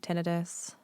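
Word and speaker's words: tinnitus: do these days to help with things like tenus um and other is that officially how you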